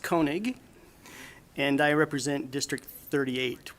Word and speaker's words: Koenig: with everybody thank you my name's Koenig pronounced Koenig and I represent District 38 which goes from